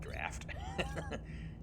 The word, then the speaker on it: draught: a draught of strength remember having an English teacher that pronounce that word draught which was kind of awkward because it's actually draft and some more iron